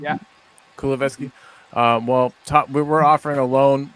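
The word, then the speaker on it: Kulusevski: Is that how you pronounce that guy's name? Yeah, Kuleveski.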